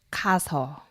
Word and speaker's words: 가서: a gente junta aso, em vez de ficar ka-aso, como é que fica? 가서. Ka-aso. A gente junta, né, os dois as para não ficar ka-aso.